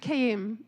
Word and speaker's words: Kayim: Can you help me, first off, clarify the proper pronunciation of your last name? Oh, Kayim.